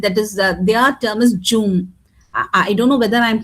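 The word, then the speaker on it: jhum: That is their term is Jum. I don't know whether I'm pronouncing it properly, correctly or not, but then It's correct, ma'am.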